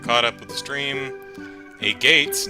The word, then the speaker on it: Agate: A Gates name rhymes with maggot. Aww. I may just keep calling it a gate, just because it makes me giggle, but, Agate?